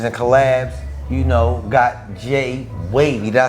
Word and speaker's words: Jai Wave: collabs you know got J wave did I say it right J wave you know what I'm saying like like a wave like Jay wave because you know we